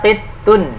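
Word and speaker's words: قِطٌّ: Ini ya, qittun itu toknya tasdid ya, bacanya qittun. Nah, tambahkan tasdidnya di situ.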